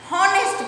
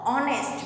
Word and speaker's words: honest: এখানে আমরা এই ওয়ার্ডটাকে কি বলছি না, হনেস্ট বলছি না, হ উচ্চারণ হবে তখন। সেক্ষেত্রে এটার উচ্চারণ হচ্ছে কি অনেস্ট ম্যান।